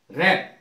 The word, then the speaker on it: wrap: अर्थ होता है र र में डब्लू साइलेंट रप लपेटना इसका अर्थ है रंग